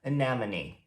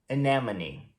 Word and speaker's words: anemone: ela se escreve desse jeito e a gente pronuncia anemone. Anemone.